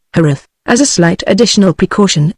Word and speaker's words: Jerez: He pronounced the name in the Spanish manner, Jerez, as a slight additional precaution against being too readily understood, preferably the elderly and fuscous variety.